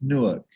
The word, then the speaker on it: Newark: as possible is okay i i don't it's pronounced newark and you yeah but you you you nwu